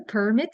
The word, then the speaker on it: permit: Think about it. Do you have a permit, a thing, a noun? But yeah, will they permit? Will they allow me? So permit and permit.